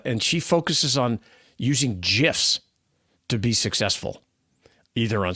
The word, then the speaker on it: GIF: 1987 says it's pronounced gif there you go so like like the peanut butter like the peanut butter